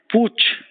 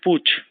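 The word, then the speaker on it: putsch: Fortune thought to be Pooch p-u-t-sch the pronunciation is Pooch usually political uh something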